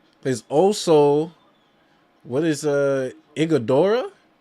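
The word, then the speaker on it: Iguodala: There's also what is uh Igodora. Is his name? That's how you pronounce his name. Igodora.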